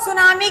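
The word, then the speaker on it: tsunami: बच्चों सुनामी का T silent है।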